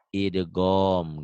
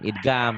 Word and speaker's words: idgham: Idgom gitu. Idgam. Bukan idgam, idgom.